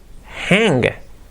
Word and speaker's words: hang: Sería to hang. Hang. Fijaros, se escribe H-A-N-G, no es hang, es hang. Because the A sound, el sonido de la A es ea, hang.